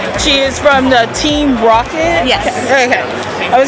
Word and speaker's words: RockCat: It's pronounced Rocket, but a lot of people seem to get that mixed up when they search for us.